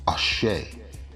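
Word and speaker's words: Àṣẹ: Regarding life force, Emi, that which Olodumare bestows on each individual and an integral component of each Ori Inu, it is known as Ashe, pronounced Ashe.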